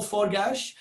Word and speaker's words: Forgash: You've actually, my pronunciation is very anglicised, Forgash, but you've actually, coming from that Hungarian part of the Australian world, you've hit the nail on the head.